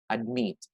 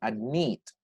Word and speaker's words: admit: Admit. However, you have to double because meet here is a stressed one, admit. So just listen the way I pronounce the word admit. So it's stressed.